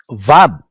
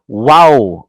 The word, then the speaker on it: Vav: This next letter is uh, Vab. Okay, one line only. Vab, like that. Vab. W-A-W. Wow or Vab. Bakit Vab? A-W ang spelling. Because the Germans were the first uh, grammarians, no, of Hebrew.